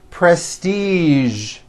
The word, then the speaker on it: prestige: casual television very good now there are only a few words that have the voiced zhi sound at the end a few of these words are the color beige the word massage and the word prestige okay now that you